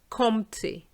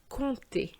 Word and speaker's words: compter: I often hear compter. Well, here we again have the sound on, because whether it's on or om, it doesn't matter, it's the same sound. And here we have a P which is silent. So really it should be compter.